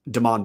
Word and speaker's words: Deon: Weber it's worth knowing we pronounce deon's Deon bankson name is Deon not Damon or Damian but overall uh I